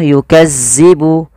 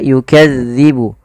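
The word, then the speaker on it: يُكَذِّبُ: ya Kemudian pada lafaluk hati-hati teman-teman dilafal melafalkan huruf dalal dalal ini tidak boleh dibaca atau tidak boleh diganti dengan huruf Zai contoh yukazzibu yukazzibu tidak tapi dia yukadzibu yukadzibu yukadzibu bihal mujrimun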